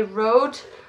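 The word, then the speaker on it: Rode: this one is a road microphone I'm just going to say it the English Way Road but actually it's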